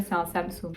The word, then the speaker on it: Samsung: sam sam soum sung sow absolue mon téléphone samsung pas du tout ok en 5 adidas adidas